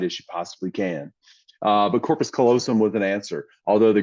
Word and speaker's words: corpus callosum: But corpus callosum was an answer, although the girl got it wrong because she mispronounced it. She said corpus callosum. She added a T in there, and so they didn't give her credit for it.